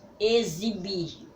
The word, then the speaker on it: exibir: palavra vamos lá a exibir exibir o X tem som de z Ah sim então vamos